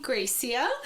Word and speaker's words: Grecia: Today we're interviewing Grecia.